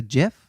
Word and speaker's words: GIF: yeah, A GIF? a GIF. Like the peanut butter? Yeah. He was a jar Yummy. of peanut butter? yes. That's the correct.